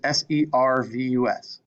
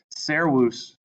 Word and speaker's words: servus: Okay, servus. Oh, sorry. This word is servus. Remember, the V is a W.